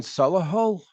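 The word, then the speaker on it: Solihull: but have but um so they formed in Salah Hall I don't know how you pronounce that s-o-l-i-h-u-l-l English rock band 1989.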